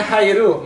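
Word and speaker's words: 入: Oke ya, bacanya ini ini bacanya hairu masuk atau ireru memasukkan atau nyu aduh ini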